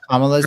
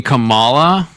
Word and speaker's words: Kamala: Oh, you know how they refuse to pronounce Kamala's name properly cuz it's like they're lowkey racist and want to signal to each other how racist they are? Second one. You mean Kamala?